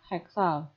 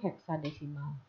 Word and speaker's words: heksadesimal: Atau contoh lainnya adalah 41 heksal. Nah, itu salah cara pengucapannya, tapi adalah 41 heksadesimal. Jadi ini bukan bilangan desimal, melainkan bilangan heksal.